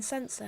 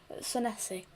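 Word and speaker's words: Senesi: I've just realized I'm pronouncing Sessi's name wrong in saying Sensor, haven't I? Sessi.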